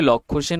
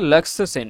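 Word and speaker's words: Lakshya Sen: এটা লাক্সসে সেন মানে উচ্চারণটা আমরা বাংলায় করলে লক্ষ্য সেন হয় কিন্তু একচুয়ালি এটাকে উচ্চারণ করে লাক্সসে সেন লাক্স সেন লাক্সসেন ঠিক আছে তিনি কোন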